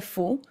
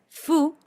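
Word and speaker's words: ふ: Esta acá, aunque dice fu, no es la F de nuestro español, es más una mezcla entre la F del español y la H del inglés.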